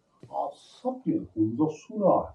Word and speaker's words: Hunza: 1100 साल पुराना फोर्ट है, जो कि गिलगित बल्तिस्तान का ओल्डेस्ट मोनूमेंट तारीफ करता है। आप सबने हुंजा सुना है जी। हुंजा का actual accent, actual pronunciation, original नाम हुंजो है, H-U-N-Z-O, 1891 में जब ब्रिटिश